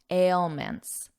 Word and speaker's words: ailments: review the pronunciation here don't get confused by this beginning don't look at the word just listen to my voice ale ale ailments ailments and an ailment is